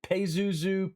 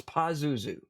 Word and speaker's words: Pazuzu: of the demon pazuzu paisuzu pazuzu uh you'll hear pronounced different ways but it's pazuzu uh pazuzu is a